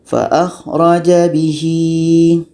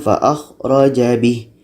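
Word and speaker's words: فَأَخْرَجَ بِهِ: Nah, ini ya kecil panjang dua harakat. Ini pun kadang ramai orang yang mengira ini adalah tanda berhenti. Jadi dibacanya faakhroja bih. Setelah itu dia sambung. Ah, itu salah ya. Karena ini adalah tanda huruf panjang mesti kita panjangkan.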